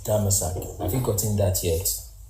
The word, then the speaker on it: Damascus: The real pronunciation for Damascus is Damasak.